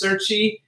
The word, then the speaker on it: Cerchi: Our first guest is going to be Max Cerchi.